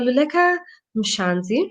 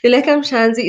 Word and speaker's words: Luleka Mhlanzi: So Luleka Mhlanzi, she told me how to pronounce that. So Luleka Mhlanzi is a performing and published poet, actress, creative